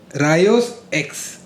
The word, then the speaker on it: Rayos X: रायोस एक्स. एकीस नहीं, रायो एक्स बोल रही है ये. Rayos X.